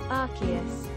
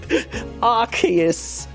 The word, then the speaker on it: Arceus: i'm surprised i am act there's only american pronunciation for this one i want to know how it says arceus no arceus oh that's correct wait oh my god they're having an argument arceus yeah they're different the british one is arceus